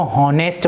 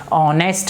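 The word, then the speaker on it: honest: इसको हॉनेस्ट बोलते हैं। ये एक्चुअल में हॉनेस्ट नहीं है, इसका ह से उच्चारण नहीं होगा। इसका उच्चारण कहाँ से, इसका साउंड कहाँ से निकलेगा? ओ से।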